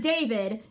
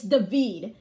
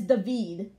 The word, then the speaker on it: David: giving the peace sign his name is not David it's David it's spelled as David but it's pronounced as David and then we got pip AKA The Forgotten